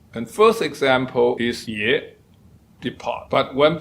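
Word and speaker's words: 葉: And you can hear again yip. In order to get this word out, you have to close your mouth to get the P sound, but you do not pronounce it.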